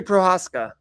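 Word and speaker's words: Procházka: Yuri Prohaska.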